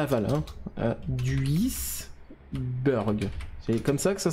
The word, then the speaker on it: Duisburg: Duisburg. C'est comme ça que ça se prononce ?